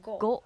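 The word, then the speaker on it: ご: Hiragana ko, it will be go.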